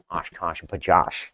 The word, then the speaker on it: OshKosh B'gosh: OshKosh B'gosh. Yes, we are saying it correctly.